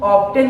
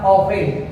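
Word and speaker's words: often: नहीं मेरे प्यारे बच्चों, ऑफ्टेन नहीं पढ़ना, इसको पढ़ना ऑफन, क्योंकि यहाँ पे टी साइलेंट है।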